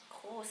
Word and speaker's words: groß: So, dia pronounce macam huruf S. Okay? S. Kalau awak guna this letter, yang acid ni, selepas after E, I and I, E, then after A, O atau U, kita akan pronounce dia panjang. Heißen Straße groß. G-R-O, S tu dia punya macam S.